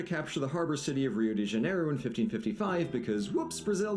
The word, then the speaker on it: Rio de Janeiro: make very little sense apparently rio de janeiro is supposed to be pronounced hugh de janeiro and to that i ask one question and that is what did the letter r ever do to you guys but while i could